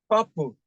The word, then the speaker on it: purple: You have per and pull, per, per, per, all right? So the stress is going to be here. I'm using stroke this time because of space, all right?